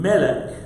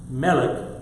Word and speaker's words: melech: Melech, just think of MLK like Martin Luther King. It's an MLK, but depending on how you pronounce it in between is the difference between a king and a queen.